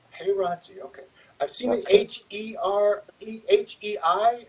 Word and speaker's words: Heirati: Thank you for How do you pronounce the last name? I got it. Heirati. Heirati, okay.